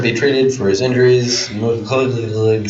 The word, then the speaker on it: McCullough: MC and then big C-U-L-L. So. O-U-G-H. What? Deputy Fire Marshal. Where? McCullough. McCullough? That is weird. Like Fox McCloud.